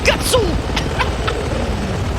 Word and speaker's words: Gutso: Yeah, see, he finally said it right, but it's Gutso.